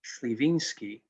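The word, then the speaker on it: Słowiński: tree dna and the it is a polish surname uh pronounced slivinsky and you're probably wondering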